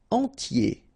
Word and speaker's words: entier: Entier. So remember, I-E-R, yé, okay, and then the T, tier, and the nasal before, entier.